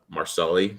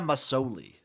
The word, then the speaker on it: Masoli: like you said uh marceli did i say his name right jeremiah masoli masoli dropping dimes and even